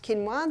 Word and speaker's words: quinoa: become familiar with it's spelled quoa but it's pronounced quinoa the Aztecs love their quinoa is starting to